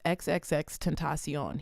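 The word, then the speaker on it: XXXTentacion: First of all, people don't know how to pronounce his name. It is XXX Tentacion.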